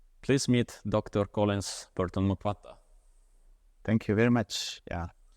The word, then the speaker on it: Mwakwata: meet Dr Collins Burton mukata thank you very much yeah you said very well my name normally like people make mistake pronouncing M but you pronounce it very well well here's a very